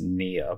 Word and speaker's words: pnea: Now, like this, the P is silent. So you pronounce it just nia, but if you put an A in front of that, it becomes apnea or dyspnea.